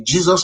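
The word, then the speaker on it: Jesús: So I come to America, I landed at the airport, I see a Hispanic guy whose name is spelled Jusu, which Hispanic people will say Jesus.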